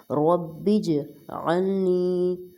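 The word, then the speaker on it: اجعلني: سب مومنین کے لیے۔ با کو جیم کے ساتھ جوائن کریں گے اور قلقلہ ہوگا، رب اجعلنی مقیم الصلاۃ، نیکسٹ کے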